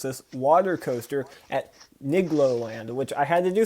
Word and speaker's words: Nigloland: The best way I can describe how to say it is it's igloo, but with an N in front of it.